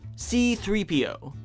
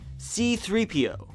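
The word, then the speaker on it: C-3PO: you say his name C3PO you see there's a slight pause after the C C3PO if you had the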